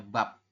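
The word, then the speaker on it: 밥: Kalau di akhir bunyinya adalah P, jadi ini biep, vokal A terus biep, jadi dibacanya bab.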